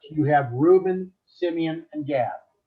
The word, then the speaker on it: Gad: Okay, and then over here we're going to have Right to left, you have Reuben, Simeon, and Gad. Or God, it actually is the way we would pronounce that.